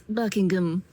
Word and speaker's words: Buckingham: And she'd be like, "Um, it's Buckingham."